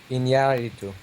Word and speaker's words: Iñárritu: Iñárritu.